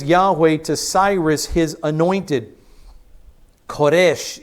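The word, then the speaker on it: כורש: to Cyrus his anointed koresh is the Hebrew pronunciation of the word Cyrus koresh is this king's name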